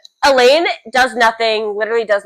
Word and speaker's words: Elain: Is it Eile or is it like Eileene?